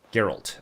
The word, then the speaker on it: Geralt: Geralt. Okay, that's how you pronounce it.